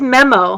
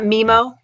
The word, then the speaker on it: Memo: a buddy his and it is memo huh it's not MIMO that's how they pronounced it well he's the